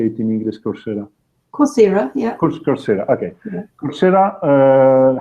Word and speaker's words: Coursera: Coursera, yeah.